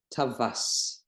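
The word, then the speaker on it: טווס: kamatz in this case, then we pronounce this vav like V in English. It's a consonant, it's not a vowel. And we pronounce it tavas.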